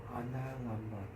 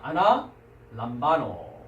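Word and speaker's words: ἀναλαμβάνω: 연관 단어들을 우리가 한번 발음 연습을 좀 해보도록 하겠습니다. 자, 353번. 아나 람바노. 네, 그렇습니다. 아나 람바노.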